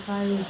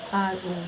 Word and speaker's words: Caeiro: I have no information as to Cairo's knowledge, and the four names that he created. One is Alberto Cairo. I hope that I'm pronouncing it right. It is Caeiro, like Cairo, the capital of Egypt.